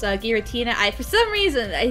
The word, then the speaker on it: Giratina: to call kyogre oh no i used to pronounce uh giratina i for some reason i said argentina no oil all right let's move on from